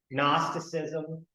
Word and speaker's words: Gnosticism: The G is silent. Gnosticism.